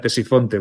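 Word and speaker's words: Ctesifonte: Ya es que no pronuncio la C, ya voy directamente a Tesifonte, porque es que es más sencillo hacerlo así, ¿no?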